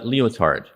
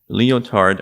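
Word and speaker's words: Lyotard: an Algerian French thinker and another person is leotard leotard wrote about his understanding of what postmodernism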